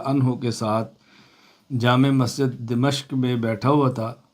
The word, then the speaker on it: دمشق: کے ساتھ جامع مسجد دمشق میں بیٹھا ہوا تھا۔ تلفظ ہے دمشق، بس اوقات جلدی میں دمشق بھی پڑھ دیا جاتا ہے، اصل تلفظ یہ ہے کہ دمشق کی مسجد میں